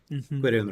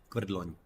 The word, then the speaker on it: Quirion: Quirion Ranger, Okay. Querdlon. Good line, yeah. Severely mispronounced name of the word Quirion, Yes, which can just become good.